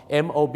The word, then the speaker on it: mob: ครับ ผม นะ ฮะ ม็อบ เนี่ย มัน ไม่ ได้ นะ ครับ ฝรั่ง จะ ฟัง เป็น mop ม็อบ ที่ จริง แล้ว นะ ครับ มัน ต้อง ออก เสียง ว่า มอบ นั่น เอง ครับ อ่ะ มอบ Mob มอบ เหมือน กับ ขอ มอบ ดอก ไม้ ใน สวน เนี่ย นะ ฮะ มอบ แต่